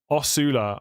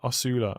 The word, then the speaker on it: Osula: It's pronounced Osula. Osula.